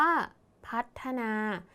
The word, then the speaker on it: พัฒนา: นะ คะ คำ นี้ คำ ว่า พัด มี ท ผู้ เฒ่า เป็น ตัว สะกด แต่ ออก เสียง พยัญชนะ ท้าย เหมือน ด เด็ก ใช่ ไหม คะ ดัง นั้น คำ นี้ อยู่ ใน แม่ กด นะ คะ แล้ว ก็ คำ